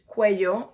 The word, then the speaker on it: cuello: Cuello, remember in Spanish, cuello, the double L is pronounced as a Y, so it's cuello.